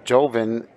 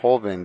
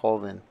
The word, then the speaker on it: Joven: hobbing so you know joven is how a lot of people pronounce it but in spanish and i'm pretty sure filipino it's pronounced horvin the j is pronounced like an h holven hoven means young does it